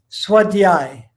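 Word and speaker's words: svādhyāya: of my favorite ones okay so say the pronunciation again swat the eye for the eye okay that's why the yeah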